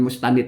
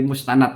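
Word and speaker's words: مستند: kalau redaksinya begitu Itu dibacanya itu bukan mustanid tapi mustanad ya sandaran n dan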